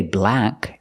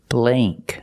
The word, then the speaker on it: blank: and this word blank we don't say black it's blay blank use the long a sound example this is a